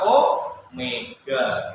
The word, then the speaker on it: omega: Kecepatan sudut itu simbolnya itu begini, seperti huruf W, tapi bacanya bukan W, membacanya adalah omega.